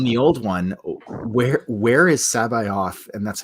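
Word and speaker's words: C'baoth: On the old one, where is Sabayoth? And that's how you pronounce it according to the audiobooks.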